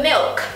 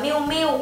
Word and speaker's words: milk: very good trứng từ Milk này thì nhiều bạn hay đọc là miu miu nên thành ra là chúng ta thấy là nó thiếu cái âm L ở giữa các bạn nên đọc